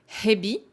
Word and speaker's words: 蛇: normalement quand il est tout seul il se prononce Hebi pensez bien au h c'est pas hebbi la